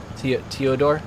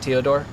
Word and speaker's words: Teodor: Te toodor. You say it like teodor like that.